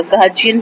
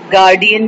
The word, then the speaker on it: guardian: लेकिन गलतुलाम में हम लोग जो हमारी पाकिस्तानी स्टाइल इंग्लिश है तो उसमें हम इसको गार्डियन भी कह देते हैं, और आपने अक्सर लिखा हुआ भी होगा कि गार्डियन कोट लिखा होता है, गार्जियन कोट नहीं होता है। तो प्रोनाउंसिएशन में जो है ये वर्ड गार्जियन है, और लिखने में जो ये वर्ड है ये गार्डियन है।